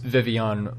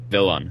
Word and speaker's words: Vivillon: I'm pretty sure it's pronounced Vivillon because there's 2 L's in there. Well, but if well, the word papillon has 2 L's, and I think that's like French for butterfly, and I'm pretty sure